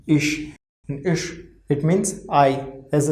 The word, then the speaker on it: ich: Before CH, if there will be I, then pronunciation of CH will be sh, sh. We can say SH or in Hindi we have wrote sh, right? So, before CH there is I, pronunciation of CH is sh. All over pronunciation of this word is ish.